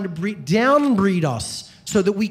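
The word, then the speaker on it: εὖ: epsilon epsilon epsilon epsilon in Greek pronounced u is the adjective meaning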